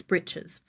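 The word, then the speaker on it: breeches: So, previously the default garment for men to wear on their legs was breaches, which they pronounce britches.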